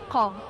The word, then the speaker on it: قاع: قائم مكون من رمزين الرمز الاول هو حرف القاف اللي هو على شكل التل وبيتنطق قاع يعني العالي وهنلاقي تحتها على طول